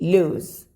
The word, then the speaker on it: lose: കാരണം ഇതിൽ അവസാനം Z എന്നുള്ളൊരു ശബ്ദമാണ്, അതിൽ സ് എന്നുള്ള ശബ്ദമാണ്. Okay? This is ലൂസ്, this is ലൂസ്, ലൂസ്. തോൽക്കുക, നഷ്ടപ്പെടുക. ലൂസ്, LOSE, ലൂസ്, ലൂസ്.